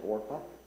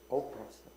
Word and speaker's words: Orpah: How many of you know that Oprah Winfrey's name is actually Orpah? That's on her birth certificate. People mispronounced it. Oprah.